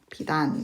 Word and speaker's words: 빛 안: 자, 빛에서 이걸 한 다음에 그 다음에 연음에서 빨리 읽어주는 거죠. 비단, 이렇게 발음이 됩니다.